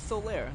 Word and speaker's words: Solaire: I swear to God, there's not a T in his name. Yeah, he's Solaire.